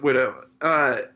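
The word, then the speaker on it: Whydah: Widda Galley. Yeah. Widda like widow. Widda. Anyway, go on. Yeah, they kind of pronounce it widow.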